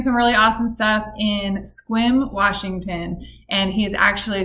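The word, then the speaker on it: Sequim: swim youth skate park foundation squim sometimes people call it sequin it is yeah i call it squirm sometimes no it's a great little town and uh it's spelled s-e-q-u-i-m and uh yeah squim washington it gets less rainfall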